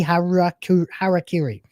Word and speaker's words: harakiri: I don't know what's going on but all my browsers are trying to commit heruh harry harakiri that's how you pronounce it at the same time.